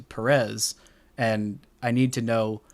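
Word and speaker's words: Pérez: I think it's Perez, and I think we've been saying it wrong his entire career because the broadcast has just started saying Perez as opposed to Perez, and I need to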